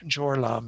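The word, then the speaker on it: སྦྱོར་ལམ: But bodhisattvas who have entered this path, which is preparation, it means jor lam is how it's pronounced in the Tibetan, jor meaning to prepare, and path, of course, the word that we've been using, lam, throughout this.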